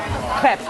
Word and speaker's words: crêpe: Actually, in French, you would say crêpe. crepe. But like, I find that in English, people anglicize it, so they say crepe.